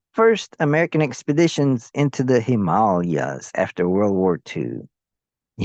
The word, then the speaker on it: Himalaya: in the Himalaya, but he pronounces it distinctly as Himalaya. Himalaya. It's a Sanskrit word that means abode of snow.